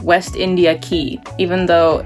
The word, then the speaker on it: Quay: of the water, and it's called West India Quay, even though it's spelled Quay. They pronounce it Quay.